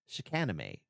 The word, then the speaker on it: Chicanime: And Lauren corrected me, and the name of the channel is Chicanime.